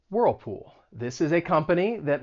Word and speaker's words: Whirlpool: let's practice this and you should feel your tongue getting pulled up two times for that dark l whirlpool whirlpool whirlpool and then